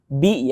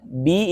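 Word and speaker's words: بِ: Ya, di sini juga ada huruf bi ya. Bi itu bacanya bi, jangan sampai b ya. Birabbil, ro-nya tebal. Bi huruf tipis ya, jadi turunkan bibirnya. Bi.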